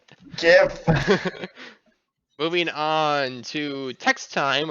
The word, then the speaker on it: GIF: do have a bunny jif always ready and yes i use the incorrect pronunciation of jeff there i know it's gif jeff is more common gif moving on to text